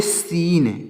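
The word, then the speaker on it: scene: है यह साइलेंट है अगला है एस सी ई एन तो इसको पढ़ेंगे सीन क्या पढ़ेंगे दोस्तों इसको पढ़ेंगे सीन यहां पर भी सी साइलेंट है और इसको क्या पढ़ेंगे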